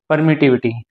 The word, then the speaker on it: permittivity: इसको बोलते एले को परमिट विटी तो इसको हम क्या बोले परमिटिंग इसको properly परमिटिंग of medium medium की इसको प्रॉपर्ली हम क्या प्रोनाउंस करेंगे परमिट विटी of medium medium की क्या परमिट